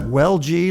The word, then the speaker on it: Welch: Yes, I pronounce that Welge, like Welge. Who was that unmasked man?